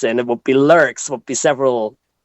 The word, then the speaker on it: Lürxx: So it's kind of like lurk. Okay. And uh then you put an s in it would be lurks would be several l